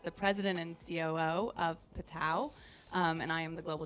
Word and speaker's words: PTTOW: So it is PTTOW.